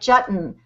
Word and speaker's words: Jetton: you have an unusual name like Jetton rhymes with button or mondian that could